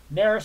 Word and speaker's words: Neris: And I hope it is pronounced Neris. I can find it out too. I'm probably mispronouncing that too. Neris, I was right the first time.